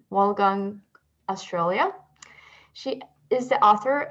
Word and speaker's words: Wollongong: Prior to that, she worked as an academic at University of Wollongong, I'm mispronouncing, Wollongong, Australia.